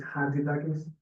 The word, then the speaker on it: Chatzidakis: And the trick here is like C silent. It's Chatzidakis.